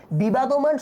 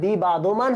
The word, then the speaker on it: বিবদমান: বিবাদমান শব্দটাও ঠিক একই ভাবে, এটা বিবাদমান হবে না, হবে বিবদমান।